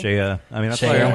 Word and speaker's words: Cheya Cary: Wow, you pronounced both of our names right. It's a pleasure to be here. Well done. You've done your homework. Jeez. People say Clare Dickinson and Cheya Cary. Cheya.